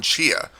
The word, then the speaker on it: Tchia: for something new to play I decided upon Chia a game that I didn't know how to pronounce at first until I found out within